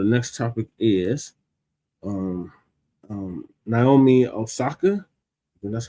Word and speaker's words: Naomi Osaka: So, the next topic is um um Naomi Osaka.